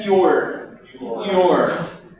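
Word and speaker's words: you're: A pronúncia é your. Your. Repitam your. Very good.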